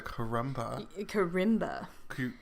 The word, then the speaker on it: kalimba: The music box, which I have been informed is a karimba. Karimba. Chris O'Donnell. Yes. Well, it's spelled kalimba, but it's actually an R sound.